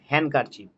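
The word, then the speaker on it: handkerchief: হ্যান্ড, হ্যান্ড কারচিপ, ডি কিন্তু silent, হ্যান্ড কারচিপ।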